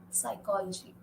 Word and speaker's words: psychology: Again, P is silent. Psychology.